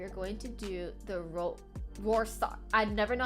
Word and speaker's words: Rorschach: And to continue this positive trend, we are going to do the Rorschach. I never know how to pronounce this.